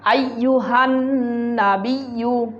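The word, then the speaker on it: أيها النبي: আসসালামু আলাইকা, আইয়ুহান নাবিয়্যু, আইয়ুহান, আমার সাথে দেখুন, আইয়ুহান, আইয়ুহান নাবিয়্যু, হান এখানে গুণা আছে।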